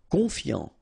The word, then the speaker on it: confiant: Confiant, okay, final T not pronounced, so O-N, on, I-A-N, ian, confiant, confiant. Attentionné, okay, at the end